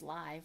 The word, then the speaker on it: Liv: L I V, which I know can be pronounced live or a live. But in this context is live fantastical with Michelle 1 L and Michelle and Cheyenne S I N E.